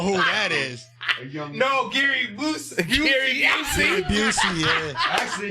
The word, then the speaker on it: Busey: Busey. Busey. That name is crazy. Busey. Like pussy.